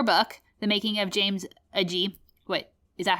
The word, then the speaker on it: Agee: came across your book the making of james a g wait is that how you pronounce his name agee ag i'm gonna forget